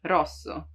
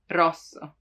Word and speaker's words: rosso: everyone has problems with it's rolled right you have to make it vibrate you don't have to prolong it too much rosso but it still has to roll rosso practice this rosso what we say like